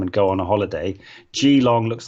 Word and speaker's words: Geelong: um yes summer sorry it's just apparently it's pronounced geelong you're flaming sorry i won't do that anymore apologies to all of you um oh here we go g long no gel geelong geelong geelong okay thanks finale get